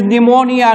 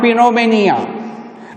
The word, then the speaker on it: pneumonia: See, the pronunciation is pneumonia, not pneumonia.